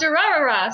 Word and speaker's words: Durarara: Then we'll be doing a collective review of Durarara, season 1. It's pronounced And Durarara.